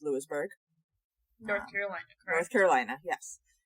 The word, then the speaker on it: Louisburg: I am going to verify that it is pronounced Lewisburg North Carolina North Carolina yes and we are